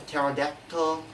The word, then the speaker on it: pterodactyl: The letter P, it only has one rule, that is, letter P is not pronounced at the end of the beginning of many words using the combination of PS, PT, and PN.